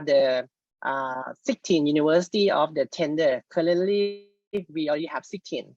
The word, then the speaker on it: TNDR: network for disaster resilience, or we call TNDR, spelling TNDR, then we can pronounce tender.